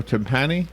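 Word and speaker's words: Tumpane: League Baseball umpire John tan am I saying that right or tempani how do you say his name yeah I I I think you had it right the second time okay uh anyway um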